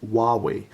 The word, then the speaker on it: Huawei: It's pronounced Huawei.